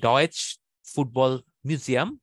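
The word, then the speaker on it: Deutsches Fußballmuseum: তো জার্মানির ফুটবল মিউজিয়ামটা হচ্ছে ডর্টমুন্ডে, যেটা হচ্ছে ডয়েচ ফুটবল মিউজিয়াম, এইভাবে উচ্চারণ করে তারা।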